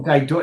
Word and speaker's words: Ghidorah: Oh, Ghidorah. It's not Ghidorah, it's Ghidorah.